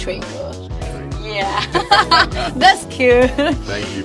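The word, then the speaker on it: 锤: So, do you know the pronunciation of that? Can you In remind Chinese? me? Yeah, it's Chui.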